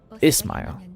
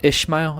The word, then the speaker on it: Ishmael: Ismail. Oh, that's how you pronounce it. It's not Ishmael, it's Ismail. Ismail.